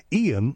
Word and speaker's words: Iain: But his name is Iain Lee, and I've filled in for him a number of times on this radio station and always been grateful for it.